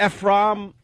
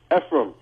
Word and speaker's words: Ephraim: We got Ephraim, Brooklyn. What's up? Hey, what's going on, man? How do you say your name? Ephraim. Ephraim. All right, sorry. As in Zimbalist Jr.